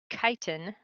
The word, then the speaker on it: chitin: different is that it contains chitin that's how it's pronounced chitin ok 2ch has a